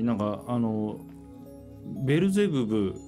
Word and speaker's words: ベルゼバブ: としてはベルゼブブというのはまちょっとね日本語の発音にすればベルゼバブの方が近いかもしれないですねうんベルゼバブえ